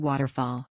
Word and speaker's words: waterfall: the next word in the word city the t is pronounced as a flap sound let's repeat